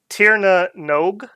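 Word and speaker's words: Tír na nÓg: their suggestion was that the NOG was pronounced like as in rogue, so Tirna Nog.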